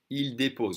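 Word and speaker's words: déposent: dropping off the kids depose remember we don't say say the S we don't say the ENT so yes phonetically if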